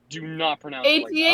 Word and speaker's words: AT-AT: Do not pronounce it like that. AT-AT.